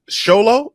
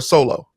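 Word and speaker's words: Xolo: Because I was kind of upset about that because how do you say his name? Is it Sholo or Solo? Zolo. Zolo.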